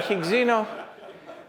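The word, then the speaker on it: higgsino: and wio spin uh think you have to pronounce this properly higs and higino uh is a similarly so uh if if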